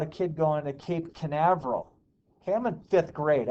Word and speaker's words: Canaveral: watch the launch at cape carnival chris it's canaveral okay the rocket engines